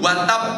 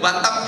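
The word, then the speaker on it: وَتَبَّ: lahabi itu pun membacanya se dipindo watab tidak boleh watap gitu tapi watab saking gergetene gusti Allah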